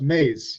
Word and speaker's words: Maes: I've had my name pronounced like a million different ways, or it's spelled a million different ways, like Mays, Maiz, what all that type of stuff. But when somebody looks at it, then they know how to pronounce it.